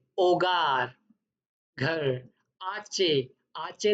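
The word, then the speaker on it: hogar: आचे जो होता है वो हमेशा साइलेंट रहता है स्पेनिश में, तो उसको प्रोनाउंस ऐसे करना है आचे। आचे दे ओला। आपने देखा होगा ये एच लिखा हुआ है, मैंने इसीलिए रेड किया है कि ये प्रोनाउंस नहीं होगा।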